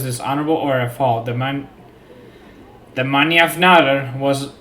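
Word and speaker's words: mannjafnaðr: How do we pronounce that? Manjafnadr.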